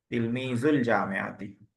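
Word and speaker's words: تلميذو الجامعة: तिलमीजु जामियाती, पढ़ते वक्त जो है तिलमीजुल पढ़ देंगे, वाव को नहीं पढ़ते, पढ़ते वक्त वाव साइलेंट हो जाता है। तिलमीजुल जामियाती।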